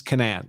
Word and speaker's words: Canaan: this is I I I refer to the uh this defense attorney in the bluish suit here as uh Kanan I guess according to the prosecutor the appropriate pronunciation pronunciation is Canaan so that's one of